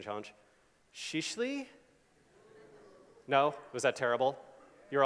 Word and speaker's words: Şişli: Just like if I wanted to rank for Istanbul neighborhoods, I should probably use, here's my pronunciation challenge, Shishli?